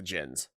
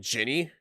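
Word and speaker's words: Djinn: Though in this game, for some reason, they call him Ginny, which is not correct. Or Genie. I don't know how to pronounce it, but they spell it D-J-I-N-N-I. But they're in every other reference material, including the actual game itself, they call them Jin.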